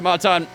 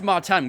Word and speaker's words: Martins: Martins or martan um I thought it was Maran because the French pronunciation and I believe Alex Jakes says it as Maran as well so I kind of went off that that's what they were